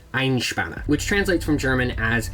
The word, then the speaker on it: Einspänner: of this recipe so it's called an einshbana which i apologize if my pronunciation is off but i think that's how you're supposed to say it ein spana which translates from german